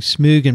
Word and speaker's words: Smögen: So it's pretty interesting to do all that, but that's why I'm saying Smögen, because there are some people in Sweden listening,